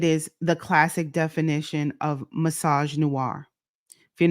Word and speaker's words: Misogynoir: Misogynoir. That's how you say it.